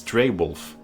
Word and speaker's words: Dreywolf: Yeah, it's Dreywolf. Sand me, ooh. Sand me, senpai. Yeah, no, that's the other side of the internet. Unless you don't pronounce wolf like the animal.